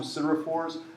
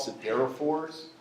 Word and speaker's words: siderophores: I pronounce them siderophores. I've heard a lot of people call siderophores. I think that's more the British and Canadian, I don't know. But you can pronounce it either way.